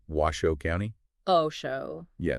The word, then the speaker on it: Washoe: Washo County okay which by the way is pronounced Washo County oh show yeah not was show interesting anyway we found this really fascinating article